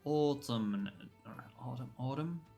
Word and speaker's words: autumn: Yeah, some people do drop the N at the end.